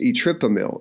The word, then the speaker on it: etripamil: super ventricular Tac cardia the drug is etripamil it's not yet approved but it rhymes with Verapamil etripamil is a self-administered